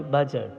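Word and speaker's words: budget: over मे झट कि बजट में डिप लैटर साइलेंट है यानी डी नहीं पढ़ा जाएगा कुछ देर शाम लिटिल ओवर माय बजट कर दो कि क्या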